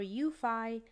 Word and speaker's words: UEFI: Note, there's no standardization on how to pronounce UEFI, by the way. Microsoft initializes it as UEFI. Others say UEFI or UFI. For a job interview, stick with initializing it.